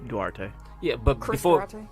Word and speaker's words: Duarte: Durante, is that how you say his name? Duarte.